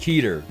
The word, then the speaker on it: Keter: See that? Keter. Told you I'd actually say it right next time.